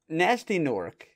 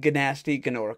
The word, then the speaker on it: Gnasty Gnork: So, Nasty Nork, the big bad of the entire thing, or as they call him, Gnasty Gnork, because Nasty Nork is spelled with G's.